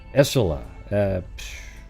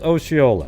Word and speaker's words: Osceola: Essola. Let's type it in. How do you do that one? How do you pronounce?